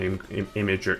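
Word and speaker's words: Imgur: Imager. Image. It's technically supposed to be pronounced imager, right?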